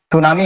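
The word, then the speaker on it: tsunami: फटना note कर करते सुनामी एकज होती है सुनामी इसकी स्पेलिंग अलग होती है टी एस यू एन ए एम आई सुनामी सुनामी सुनामी क्या होती है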